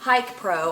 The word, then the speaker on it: HIKPRO: Hike Pro, I think is how you're supposed to pronounce it. It's HIKPRO. I also got this on